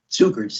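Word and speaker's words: Cukurs: Cukers is how you pronounce it, actually.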